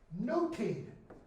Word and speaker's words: nothing: A thing, my lord, of nothing. And I didn't mention the other day that word nothing. Okay? Notice how we pronounce that. Nothing. In Shakespeare's day, that was pronounced noting. Like take note of.